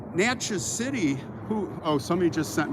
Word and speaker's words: Natchez: And then like Natchez City, oh, somebody just sent me money. Natchez City, when I did Dandelion, $5, thanks. When I did Natchez City, I was like, Natchez, like matches, like striking matches.